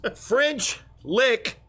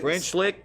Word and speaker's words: French Lick: French Lick, Indiana. That is. So it rhymes with lick.